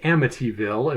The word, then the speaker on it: Amityville: particular accent I have when I have a t in that place in the word I tend to pronounce it as a d AMD amville AMD Amityville Hill technically it's Amityville if we're being all